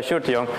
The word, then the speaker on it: Sjoerd De Jong: out that's my name this is rather hard to pronounce i guess although it's not that hard really it's a shirt young i work for epic